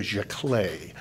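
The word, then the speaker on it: giclée: the what what is what is called a jaay and it's a weird word it's a French word it's it's spelled g CLE EES or jaay or jaay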